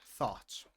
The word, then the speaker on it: thought: Uh, the neighbors thought she was strange. Pay attention to the pronunciation of this word. It's thought.